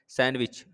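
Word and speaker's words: sandwich: नहीं कर रहे हैं, सैंडविच है ना, सैंडविच करते हैं, डी नहीं करते, सैंड नहीं बोलते, सैंड मत बोलने लगना, सैंडविच, सैंडविच है ना। तो डी जो है उसको साइलेंट में रखते हैं, सैंडविच।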